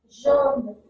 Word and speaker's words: jaune: So for this year, you can take the example of the English word measure. J. Jaune, yellow.